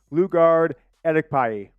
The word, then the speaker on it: Lugard Edokpayi: Is that how we pronounce it, Jack? Lugard Edokpayi. I should have figured that. I did the pronunciation guide and all that different stuff. Lugard Edokpayi. We're going to call him that, Edokpayi.